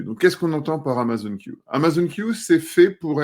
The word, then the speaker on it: Amazon Q: vos services exactement donc Amazon queue on va utiliser la la prononciation anglaise a été la première